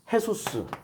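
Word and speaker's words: Jesús: 예수를 발음상으로 하면은 해소스. 스페인으로 하면은 해소스. 영어로 하면 지저스.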